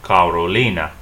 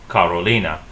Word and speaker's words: Carolina: If you want to say Carolina, it's pronounced Carolina. Carolina. And I've highlighted this li because this is where you get something called the stress.